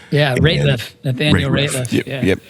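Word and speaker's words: Rateliff: Excuse me if I'm mispronouncing his name. Yeah, Ratliff.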